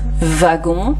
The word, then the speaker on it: wagon: Deux prononciations différentes, par exemple le W de wagon, donc là vous entendez V, wagon, comme le V, ou l'autre prononciation, donc